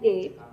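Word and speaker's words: eight: The first one is ate and ate, where I have spellings A-T-E and E-I-G-H-T, and both are pronounced the same way, ate.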